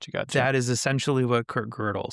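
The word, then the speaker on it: Gödel: That is essentially what Kurt Girdle said if you want to go back and read his papers. Or Wickinstein. Another one of my favorite. It's pronounced girdle, not godell.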